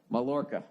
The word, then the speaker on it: Mallorca: How to pronounce Mallorca. Mallorca.